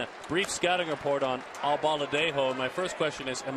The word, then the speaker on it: Albaladejo: Breaking ball is inside, and a brief scouting report on Albaladejo. My first question is, am I saying his name right? Albaladejo.